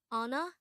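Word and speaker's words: 언어: This is pronounced as a two-syllable word. The first syllable is on, and the second syllable is o.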